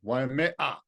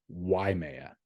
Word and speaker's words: Waimea: Waimea. Incorrect. Okay. It's not Waimea. Oh, it's just Waimea.